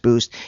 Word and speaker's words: Buiced: So again, spelled like the word juiced, but pronounced Boost.